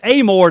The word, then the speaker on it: Amor: lot of time here it's amore down south it's a more in like france right that's right that's right